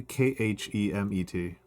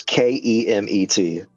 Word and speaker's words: Kemet: Probably more likely Khemet than CHA. Well, no, it's Kemet. Kemet.